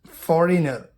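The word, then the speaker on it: foreigner: जी, जब जी के बाद एन आता है तो जी कभी कभी साइलेंट होता है। साइन निशान या दस्तखत, रेन शासनकाल को बोलते हैं। फॉरेनर विदेशी।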